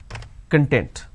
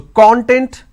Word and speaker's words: content: I can either pronounce this as content or I can pronounce this as content. So content, content.